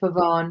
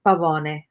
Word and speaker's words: Pavone: pavone right you know in the united states they'll say pavone but um it's pavone means peacock so the peacock doesn't